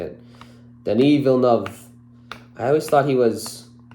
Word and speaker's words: Villeneuve: then I heard somebody a couple people actually say it the right way I think so I think I think it's Denny villanov um this is enemy this